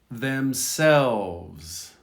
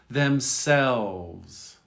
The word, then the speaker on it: themselves: Themselves. You don't hear the L much. Themselves. Themselves. You don't hear it pronounced.